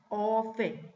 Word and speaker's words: often: Si always es siempre, often, fíjense la T, ¿no? Se pronuncia. Pongan unas rayitas sobre la letra T con algún lápiz de color para que se acuerden que no se pronuncia. Se escribe, pero no se pronuncia. Ustedes dicen often.